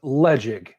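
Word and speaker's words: Ledaig: So Ledeg is pronounced Ledeg, and it is an Isla.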